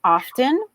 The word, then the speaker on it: often: So this word, I will say, some people pronounce two ways. So some people may say often, and Often. others, It's better. or they say often. Often. So there are two ways. Some people say often or often.